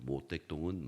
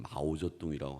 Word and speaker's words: 마오쩌둥: 우리가 아는 것처럼 이 중국의 역사도 보면 나중에 이제 현대화가 되는 과정에서 이 장개석하고 모택동하고 이 두 사람이 한국식 발음입니다만은 이 장개석과 장제스라고 하죠. 모택동은 마오쩌둥이라고 하는데 국공합작을 하기 전에 이